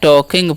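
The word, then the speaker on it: talking: है ध्यान से समझिए टॉकिंग इसे टी का एल का साइलेंट होता है तोसे हम पढ़ते हैं टॉकिंग पढ़ते हैं ठीक है एल साइलेंट होता है टॉकिंग नहीं टॉकिंग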